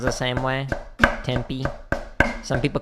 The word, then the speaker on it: Tempe: Tempe. Some people call it tempeh.